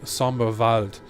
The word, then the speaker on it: Somberwald: this guy is called Sombrewald Vigilante, but because I speak German, I can't prevent myself from actually saying Somberwald, because that's how you would pronounce Wald in German, which means forest.